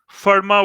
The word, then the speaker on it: Fermat: pronounced lope it all just like forma was pronounced it was written if if a or m80 but was called Fermat's theorem Verma's a Frenchman so here l'hopital's so